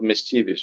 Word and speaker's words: mischievous: playfully malicious or annoying the stressing on the second syllables common in literal literature okay so unfortunate right